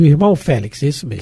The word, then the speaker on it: Félix: Félix, o irmão Félix, isso mesmo. Que na realidade deveria se pronunciar Félix. Vem ela de novo. X no final.